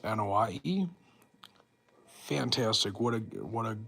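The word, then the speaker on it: Anoaʻi: But Rodney, I think, is I think is pronounced Anahei.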